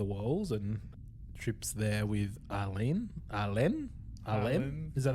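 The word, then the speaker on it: Ah'Len: There is green stuff growing all over the walls, and Trip's there with Arlene. Is that how it's pronounced? Yeah, Arlene.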